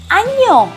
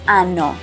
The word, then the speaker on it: año: We have a letter that it's called ñ that changes the meaning and also the pronunciation. So it's not feliz año nuevo, it's feliz año nuevo. If you're saying ano, the N without the thingy above, well, it would be anos.